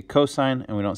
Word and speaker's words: cos: sign and then cost cos is not cost it is short for cosign which is pronounced co-sign and then tan that's